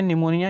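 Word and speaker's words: pneumonia: निमोनिया। यहाँ पर दिखाई दे रहा है आपको निमोनिया। निमोनिया में देखिए आपका क्या है, पी साइलेंट है, पी आपका क्या है, साइलेंट है।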